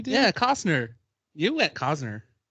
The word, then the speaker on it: Costner: he said kosner it's costner i do a silent t there's no t i mean there is